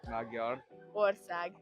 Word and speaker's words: Magyarország: Maybe like Hungary, which is Magyarország. I don't even know where to start with. Magyar. Magyar. Oh, you have to you have to roll your tongue. Yeah, you are. Magyar. Magyar. Ország.